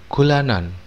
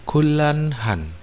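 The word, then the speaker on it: 곤란하다: Jadi ingat teman-teman, n ketemu r di sini ya, mati n ketemu r, maka n ini akan dibaca r. Gula ya, gulanhan, gulanhan artinya sulit ya, yang sulit.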